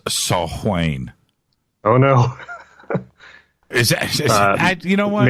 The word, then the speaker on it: Samhain: of all Gaelic Celts Samhain is pronounced assault Wayne oh no you don't